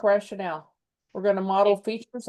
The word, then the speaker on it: rationale: Pronunciation is rationale, by the way. Oh, you're right. Rationale, not rational.